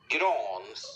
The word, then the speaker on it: Grans: it's the Elite Prospects pronunciation of Helge's name. Let's make sure the volume is up here. Helge Grans. I wanted Bill to say it exactly like that. Grans.